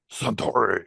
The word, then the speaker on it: Suntory: Suntory. You have to say it like a sumo wrestler.